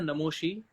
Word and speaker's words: Namashi: तो इसकी स्पेलिंग जो है NAMASHI, लेकिन प्रोनाउंसिएशन है नमोशी।